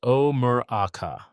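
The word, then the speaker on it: Ó Murchadha: The name derives from the ancient Gaelic O Murchada, pronounced O Muraka.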